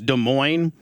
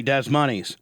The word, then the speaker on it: Des Moines: pisses people off right I know that it's Des Moines but I like to say Des monies yeah I know further accentuating my hillbilly Indiana